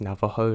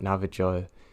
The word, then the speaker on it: Navajo: And yes, I am fully aware that it's pronounced Navajo, not Navajo.